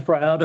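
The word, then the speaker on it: Frowde: I pronounced that name right? Froud.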